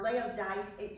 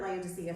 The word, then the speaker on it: Laodice: he killed Laodicea, or Laodice. Her name is pronounced Laodice, or something like that. I heard Laodicea from somebody, but it's read a different way.